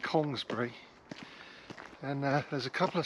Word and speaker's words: Congresbury: I'm on the edge of the village of Congresbury, and I was taught, when I got to Bristol 20 years ago, to call it Congsbury.